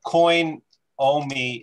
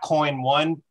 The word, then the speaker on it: Coinomi: googly what's that well coin omi is uh is a wallet um and you can not coin one it's coinomi coin and that's a